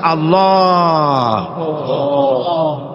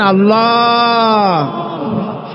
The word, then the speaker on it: আল্লাহ: আল্লাহ পাকের উচ্চারণটা হচ্ছে আল্লাহ পাকের নাম হচ্ছে আল্লাহ মুখটা একটু গোল হয়ে যাবে বলেন আল্লাহ আল্লাহ সুবহান আল্লাহ পৃথিবীতে বিভিন্ন